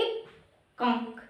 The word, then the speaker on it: एकांक: एक चीज बताया था, थोड़ा सा आप लोग अपना गला जाती है और एकांक का उच्चारण कीजिए, एकांक। ऐसे बोलने से बेटा ऐसा लग रहेगा जैसे एक और अंक का उच्चारण हो रहा है, एक अलग और अंक का उच्चारण, मतलब एकांक शब्द जो बना है एक प्लस में अंक के मिलने से बना है।